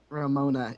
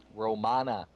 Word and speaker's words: Romana: that's not my that's Ramona is not how you pronounce it Romana his character's name is